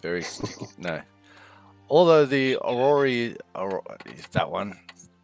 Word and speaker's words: orrery: Although the orrery is that one.